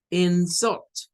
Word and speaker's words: insult: Una lleva la fuerza en la segunda sílaba y la otra la lleva en la primera sílaba.